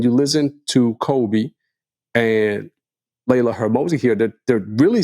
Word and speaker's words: Layla Hormozi: And Layla Hormozi.